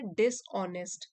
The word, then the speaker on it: dishonest: एच इसमें silent है, डिसऑनेस्ट।